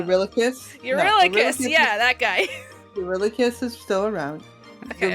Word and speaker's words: Eurylochus: Eurylochus is still around. Okay, The way to remember his name is You Really Cuss.